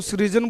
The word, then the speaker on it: SRIJJAN: कोई इसको सृजन बोलता है तो कोई सर्जन बोलता है। हिंदी में हमने लिख रखा है सर्जन, क्योंकि हमें ये नाम